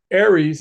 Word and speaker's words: ARES: ARES, as we pronounce it, is an all amateur organization.